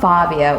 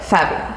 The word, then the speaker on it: Fabio: So it's not Fabio, it's more like Fabio.